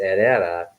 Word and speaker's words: Herrera: My last name is Herrera, pronounced Herrera, but that is a Filipino.